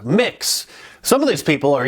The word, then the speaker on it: Mx: to use the gender-neutral title of MX pronounced mix some of these people